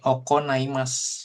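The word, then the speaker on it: 行います: menemukan oke kemudian nah ini ya kanji yang biasanya kalian sering baca dengan ikimas dia ada cara baca lain nah ini mulai dipelajari nih oko naimas yang artinya tuh mengadakan gitu ya ada seperti itu ya seperti itu.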